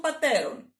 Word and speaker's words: πατέρων: Okay, but here it's οι πατέρες των πατέρων. It's the same syllable. It doesn't drop.